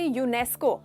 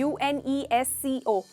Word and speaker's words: UNESCO: ये देख रहे हो हम ऐसे नहीं कह रहे UNESCO, ऐसे करके नहीं कह रहे, आप एक वर्ड में कह रहे हो, उस वर्ड को जैसे प्रोनाउंस करके कह रहे हो, प्रोनाउंस कर रहे हो, इसीलिए उसके आगे आर्टिकल नहीं लगेगा।